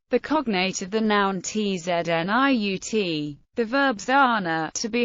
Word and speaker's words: tzniut: The term tzniut, Ashkenazi pronunciation, tzniut, modesty, or privacy, is